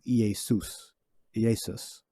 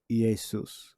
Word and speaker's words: Iesus: This word comes from a stylized form of Iesus. All right. That's supposed to be an I there. And it's pronounced with the E. Iesus. Well, Iesus. All right. So that's how it's actually supposed to be pronounced.